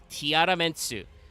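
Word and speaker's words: ティアラメンツ: how portmantos work uh technically in Japanese the way you pronounce tier lament is Tiara mensu so you use the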